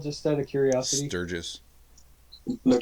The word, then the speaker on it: Stirges: Sturgis. They're called Sturges? sturges. Yep. Like in South Dakota? Well, and pronounced the same way, but Stirges. G-E-S.